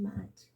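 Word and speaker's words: Maat: Now, Matt, we pronounce it as Mott, but it's actually Matt.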